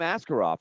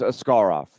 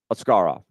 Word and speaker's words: Askarov: Russian pronunciation it is a scar off that is where the emphasis is on the second syllable a scar off a scar off made